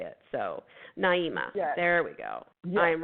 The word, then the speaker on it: Naima: So Naima, there we go. I am writing it phonetically.